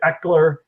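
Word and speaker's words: Ekeler: But they've been, splitting the carries a lot more to Eckler, and that's how you say his name, right? Austin Eckler. Yeah, Eckler, yeah.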